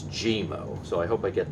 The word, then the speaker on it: GeeMo: i i think it's gmo i don't think it's guimo i think it's gmo so i hope i